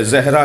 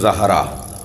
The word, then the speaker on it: زہرا: کر رہا ہوں کہ ہمارے ہاں عجلت میں جلدی میں زہرا کہہ دیتے ہیں، صحیح تلفظ زہرا، زال پر زبر۔ کہتے ہیں یا رسول